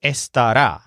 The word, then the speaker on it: estará: noises with his wand the word here is esta da so it has a stress on rah at the end and it means he